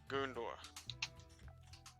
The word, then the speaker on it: Guntur: what's your name sir Guntur like goon door as in like a door for goons or clothes but it's